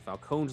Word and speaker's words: Falcone: including Sketch Project says, I'm not Italian, but my friend is, and Falcone's last name is apparently pronounced Falcone.